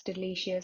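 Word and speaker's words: del.icio.us: or phrases for example the site pronounced as delicious has asked its users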